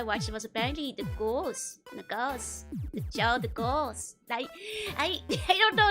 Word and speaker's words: Gauls: The English pronunciation is more like goals. The goals. Gonna go meet the goals and see what they're up to. Or the gals.